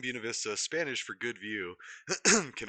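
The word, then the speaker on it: Buena Vista: The name Bunav Vista, Spanish for good view, can often be heard pronounced locally as Buuna Vista. This Americanized pronunciation was speci specified by Alcena Deerheimer, who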